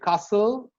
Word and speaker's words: castle: And if a word ends with S-T-L-E, like castle, hustle, whistle, the H is also silent in whistle.